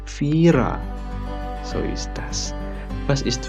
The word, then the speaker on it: Viera: Nah, kalau di bahasa Jerman bacanya bukan Viera tapi Vira.